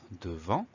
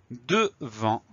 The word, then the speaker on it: devant: Le mot devant, première syllabe tout simple de D-E. Ensuite, on a le son en qui va s'écrire A-N. Et ensuite, on a une lettre muette, la lettre T, qu'on va retrouver dans devanture.